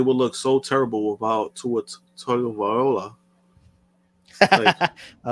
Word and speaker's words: Tua: Toa. Well, sure, you got the first name wrong, so that's gonna. So that tells you where that. How did she say it? Toa? Toa Loa. It's Tua.